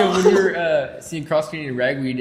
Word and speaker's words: Cross Canadian Ragweed: That reminds me of when we were seeing Cross Canadian Ragweed and they mispronounced it. Said Cross Canadian Ragsdale in front of 50,000 people.